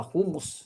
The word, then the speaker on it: humus: Yung humus may h pero hindi pronounce ang H. Ah humus yung humus yung humility.